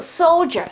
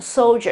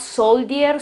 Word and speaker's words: soldier: Okay, so you think about the R, but you don't pronounce it. So soldier, this is the right pronunciation, soldier. It's not soldier, soldier, or something like that. Okay, it's soldier.